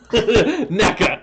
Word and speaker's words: NECA: Of course, yes, and it rhymes with Becca. Becca? Yes. Think of something that rhymes with Becca that we talk about. Becca? Rebecca? NECA.